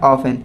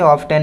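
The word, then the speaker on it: often: एंड इसके बाद next आपका है 28 नंबर जो कि है ऑफन है ना। ऑफन कहेंगे इसे, ऑफ्टन नहीं कहते हैं। इसका जो सही प्रोनाउंसिएशन है ऑफन।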